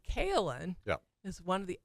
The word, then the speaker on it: kaolin: group, y I said, I think I'm pronouncing Kalin correctly. And this one woman up in front, so sweet, she's she's shaking her head emphatically. Yes. Yes, you are.